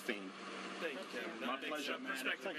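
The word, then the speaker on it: Phayme: P H A Y M E. Pronounced Fame.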